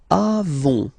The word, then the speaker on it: avons: Then nous avons. Final S not pronounced.